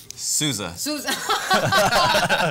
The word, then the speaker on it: Sousa: Sousa.